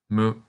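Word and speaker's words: む: This kana is pronounced mu.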